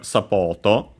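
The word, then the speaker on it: サポート: Uh, and then we have sapoto. This one I think would be should be accented on the first well actually on the second syllable. So on the pot and yeah it is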